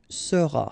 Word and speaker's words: seras: Then tu seras, final S not pronounced, tu seras.